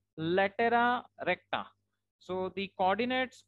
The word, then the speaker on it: latera recta: Okay, so since we are having two directrices, so we also have two latus rectum over here, and that is generally pronounced in plural form as latera recta.